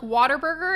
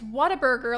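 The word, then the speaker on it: Whataburger: another fast food joint a lot of people also pronounce it Like Water Burger and it makes me mad cuz there's no r in it it's Water Burger like it's like put together as one big word but it's meant to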